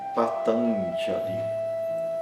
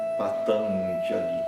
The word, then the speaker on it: Patanjali: Um exemplo de palavra em que aparece esse som é Patanjali. Patanjali. Então, é um pouco diferente de um N quando aparece antes da consoante.